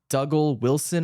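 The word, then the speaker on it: Dougal Wilson: the directorial debut of dougle Wilson I think is how you pronounce his name it still stars all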